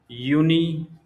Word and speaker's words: Juni: So there are 3 months: Juni, Juli, and August. Juni means June, Juli means July, August means August. German usually pronounce J as a Y, so they called Juni, Juli, August or August.